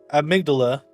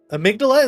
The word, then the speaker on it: amygdala: The the queen uh amygdala. Amydala. Is that how you pronounce it?